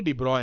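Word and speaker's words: de Broglie: साल बाद डिब्रॉय ने डिब्रॉय की स्पेलिंग भी अलग लिखी जाती है पढ़ते डिब्रॉय हैं एक बच्चा कह रहा था गलत बोल रहे हैं आप तो मैंने कहा बता दें कि ब्रॉग टाइप से लिखते हैं पढ़ते डिब्रॉय अंग्रेजी अंग्रेजों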